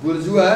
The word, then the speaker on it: bourgeois: We see therefore how the modern bourgeoisie, I told you two pronunciations, bourgeois and bourgeoisie, B-O-U-R-G-E-O-I-S, bourgeois, B-O-U-R-G-E-O-I-S-I-E, bourgeoisie. Say it, bourgeois. Say it, bourgeoisie.